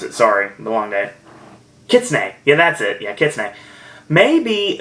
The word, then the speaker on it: Kitsune: KitchenAid or yeah I erase the way to pronounce it sorry the long day Kitsune yeah that's it yeah maybe they're gonna be